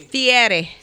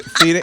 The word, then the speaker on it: Fieri: Fieri. Oh, no. Okay. Fieri. How do you say it? I want to hear the whole room. Fieri.